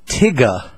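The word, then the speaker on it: Tyga: uh Harvard is inviting tigga who is a a prominent rapper in the Young Folks Society of Life tigga tigga spelled t yga a yo what's up so it's phonetically that's right phonetically spelled and apparently there's getting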